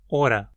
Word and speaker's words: oda: Quem acompanha meus vídeos de Hunsrickiano aqui também sabe que o mesmo acontece em Hunsrickiano, onde uma palavra como oda é pronunciada como ora.